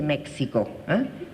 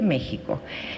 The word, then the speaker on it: México: les paso un comercial méxico se escribe con x y se dice méxico no se dice méxico se dice méxico y esa x tiene